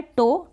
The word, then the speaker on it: toe: ओ और ई आपको एंड में मिल जाएगा, ठीक है, इसका प्रोनाउंसिएशन भी ओ होगा। क्या होगा, ओ। तो यहाँ पर है टो, टो का मतलब पाँव की उंगली, TOE, टो। टो का मतलब पाँव की उंगली और OE को आपने पढ़ा ओ। अभी तक आपने अ पढ़ा था, अब यहाँ पर आप पढ़ रहे हैं ओ।